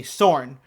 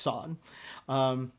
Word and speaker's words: Sorn: YouTube reactors will say sorne you know and I don't think she seems to mind it either I just happen to know it's pronounced sawn anyway that's and yeah